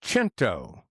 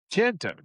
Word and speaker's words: Cento: I've been mispronouncing the brand of tomatoes for all these years. It's Cento. Cento. Okay. Cento.